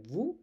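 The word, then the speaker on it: vous: Please keep that in mind and vu is formal and s in vu is silent while pronouncing.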